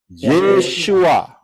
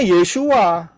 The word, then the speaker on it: ישוע: Pengucapan di dalam bahasa Indonesia adalah tertulis Yeshua. Betul? Ya benar, karena orang Israel ngomongnya Yeshua.